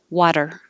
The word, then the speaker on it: water: keeping your voice on so that tiny little tap even if you're thinking it's a t will sound like a d water water utter utter utter